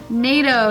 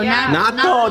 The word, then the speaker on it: natto: NATO. Natto, that's just the bomb, bro.